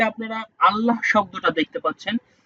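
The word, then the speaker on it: الله: করব এই যে আপনারা আল্লাহ শব্দটা দেখতে পাচ্ছেন। এই আল্লাহ শব্দটা দুইভাবে পড়তে হয়। দুইভাবে কিভাবে? উচ্চারণটা দুইদিকে দুইভাবে হবে।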